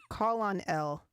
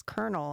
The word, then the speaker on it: colonel: it and i said what's call on cal call on l and they said it's it's colonel and i said well where's the r roma spelled it out